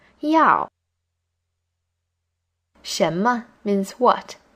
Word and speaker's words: 要: 要 is in the fourth tone. When you pronounce it, it should start high and fall low. 要.